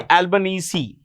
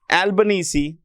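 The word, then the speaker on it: Albanese: the Prime Minister of Australia Anthony albanes Anthony albanesi that's the way it's pronounced his name is pronounced Anthony albanesi okay so I guess that's about it Fair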